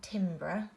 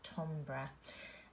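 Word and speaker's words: timbre: structure and Tom bruh and that's not Tim bruh that's how you would phonetically sound out but it's actually said Tom bruh and all of these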